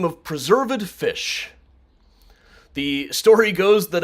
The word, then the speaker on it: Preserved: actually preserved fish junior pronounced preserved with the emphasis on ed uh born in 1766